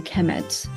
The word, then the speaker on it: Kemet: uh it will be the noun will be pronounced a Kemet so so uh egyptions